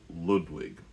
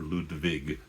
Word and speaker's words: Ludwig: to be talking about Luchino Visconti's Ludwig or Ludwig if you want to be faithful to the original German pronunciation.